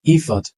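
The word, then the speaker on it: effort: হবে আলাও ইফট ইফট আমরা বলি এফর্ট এফর্ট না ইফট এন্ড দিস ওয়ান ইজ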